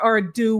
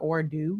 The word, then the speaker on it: ado: So without further ado, we are going, is that how you say it? Without further ado? No, that's not how you say it. Without further ado, it's a do, right?